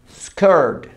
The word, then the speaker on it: skirt: vestido dress falda skirt la misma pronunciación de camisa o camiseta boca de o pero pronuncia una e e skirt skirt lo mismo que